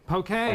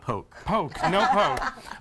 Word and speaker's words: poke: it's it's spelt poke is it pokey pokey okay poke a is definitely not poke Oh which essentially what what